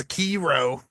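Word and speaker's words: Sekiro: It's pronounced Sakiro.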